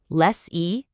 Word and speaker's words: lessee: Less e, less or. See, that little sound difference at the end tells you everything you need to know about who's who.